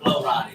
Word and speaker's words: Flo Rida: Yeah, this is like it's we say Flo Rida, but we all know it's Florida put together.